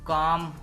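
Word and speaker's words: calm: काम, सुकून। पाम, ये लफ्ज पाम है, इसमें और काम में एल साइलेंट है, पाम।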